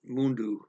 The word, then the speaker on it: mundo: Well, they're going to pronounce it mundu, as they're saying it here in this video.